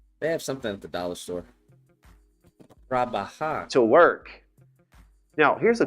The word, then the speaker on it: trabajar: Now notice trabajar is 3 syllables. Trabajar. I'm going to give you a quick little syllable lesson in Spanish. Trabajar. When a Spanish word has 3 syllables, stress the middle one.